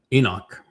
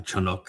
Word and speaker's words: Enoch: And Enoch uh Chanuk as his name is properly pronounced learned about Yahwa from Adam who was